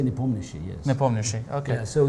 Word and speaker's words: Nepomniachtchi: In Russian we say Nepomniachtchi, yes.